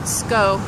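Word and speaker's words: Skov: It's called SKO Winery. It's spelled S-K-O-V. You just don't pronounce the V because it's, I don't know, God, that scared me.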